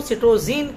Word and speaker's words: citozein: इसका थोड़ा सा दूसरा जो शब्द है, दूसरा शब्द क्या, दूसरी स्पेलिंग वाला शब्द है, वो हमें मिलता है एंग्लो फ्रेंच लैंग्वेज में, जहां पर इसको सिटोजीन के नाम से जाना गया।